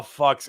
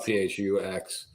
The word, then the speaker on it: Phux: Well, you've got the French pronunciation, Phux. In English, we call it PHUX. PHUX.